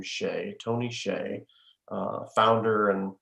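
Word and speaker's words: Hsieh: know Tony I think I believe he pronounced his last name Shay Tony Shay uh founder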